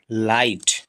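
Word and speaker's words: light: क्या हो जाएगा लाई जी एच साइलेंट टी सेटा लाइट बहुत सारे शब्द जो है उसमें जी एच क्या होता है ये साइलेंट होता है एल आई जी एस टी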